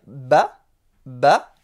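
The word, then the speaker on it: ب: Ici pour dire ba, on va mettre juste un petit trait au-dessus.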